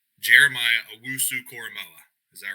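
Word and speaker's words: Koramoah: this so you can tell me if i pronounced it correct jeremiah coramoa is that right you did great dude you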